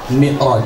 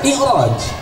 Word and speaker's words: Mi'raj: Ada yang Isra Mi'raj, ada yang Isra Mi'raj, ada yang Isra Mi'raj. Jadi yang benar yang mana? Menurut literasi bahasa Arab, kalau Isra Mi'raj, kalau Isra Mi'raj, karena ro barisnya jabar, hukumnya tafhim, dibacanya tebal.